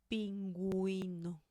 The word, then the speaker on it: pingüino: Pingüino. Pingüino. Bilingüe. Bilingüe. So you do pronounce the U here.